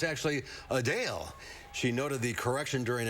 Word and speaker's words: Adele: While many pronounce it as Adele, the singer says it's actually Adele.